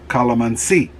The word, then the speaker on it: calamansi: as tamarind batwin and calamanzi or calamansi as my wife says i hear westerners say calamansi i tend to say it because they're hearing my wife call them and see i think that's the correct way to say it so i say it like a filipino um by the way